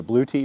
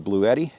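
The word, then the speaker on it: Bluetti: of jackary he recommended a blue te or a blue edti depending on how you want to pronounce it he recommended the blue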